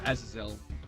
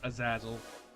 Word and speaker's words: Azazel: saying i try my best to say uh azazel which is the way i believe it's supposed to be pronounced um i know i've heard other people pronounce it as a zazzle scapular is a real good start uh nah